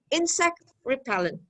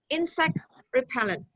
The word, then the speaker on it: insect repellent: the second repellent but when we have a compound noun the stress is on the first insect repellent so the stress changes a little bit insect repellent alarm clock travel valve